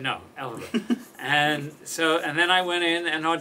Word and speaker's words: Elphaba: I called her and asked her how to pronounce Elphaba, and she told me. I thought it was Elphaba. Elphaba. And she said, no, Elphaba.